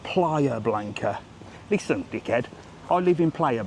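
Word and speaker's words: Playa Blanca: It's called Player Blanca.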